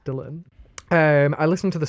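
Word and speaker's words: Dillon: spelled like that and I thought his name was dillian the longest time and D he turned around he was like why'd you keep call me dillian and I was like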